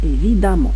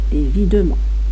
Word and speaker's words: évidemment: Attention, je prononce E-A, évidemment, et non pas évidemment.